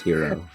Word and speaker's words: gyro: Yeah, the food is pronounced hero. Oh. Yeah, it's a little weird. You spell it like gyro, but you It's a pronounce pelican. it like hero.